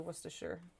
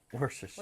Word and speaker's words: Worcestershire: It was the Worcestershire. Worcestershire.